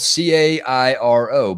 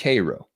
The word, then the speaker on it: Cairo: a look at the kro syrup makers and it's spelled c AI r o but do not confuse it for that town in Egypt it's not pronounced Cairo it's pronounced Koo you want to let people know you ain't